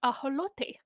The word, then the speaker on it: ajolote: Because it's not axolotl at all. Axolotl. It's axolotl. Tell me. And if you're like, oh, I don't feel like making that sound, then just use the Spanish version, which is ajolote.